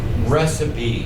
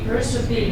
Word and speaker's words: recipe: Recipe. Recipe. Recipe. Tells you how to make cookies. The recipe tells you how to make cookies. Recipe. Remember, it looks like it should be pronounced receipt or recite, I-P-E.